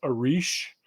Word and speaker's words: Eryj: Her name is spelled Eryj. It's pronounced Arish.